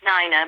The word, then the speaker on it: Nina: It's pronounced Nina, but don't worry, no one gets it right.